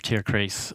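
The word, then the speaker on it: Tierkreis: like a producer of tier CH uh or tier chist actually that's the correct German pronunciation me zodiac oh it's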